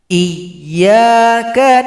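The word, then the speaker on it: إِيَّاكَ: Iyyaka na'budu wa iyyaka nasta'in. Iyyaka wa iyyaka. Jadi setiap huruf ya tasydid ini harus kita tekan.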